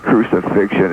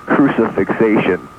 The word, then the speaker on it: crucifixation: It's not crucifixion, it's crucifixation. Get the pronunciation.